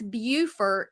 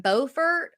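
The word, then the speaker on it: Beaufort: we're like no that's bufort South Carolina it's spelled the same way pronounced differently we're in bfort they're in bufort it's two different places two different places yeah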